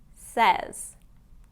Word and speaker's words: says: He says he'll be here on time. Says. Now this one is that short E sound again. Says. Instead of says, like it's spelled, it's usually pronounced as says.